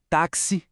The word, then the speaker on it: táxi: É só prestar atenção na pronúncia destas palavras: táxi, tóxico, fixo. Dá para ouvir aquele som inconfundível de ks?